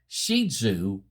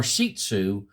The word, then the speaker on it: Shih Tzu: Um, pronounced in the west shizu or shisu. The Chinese say sherzer.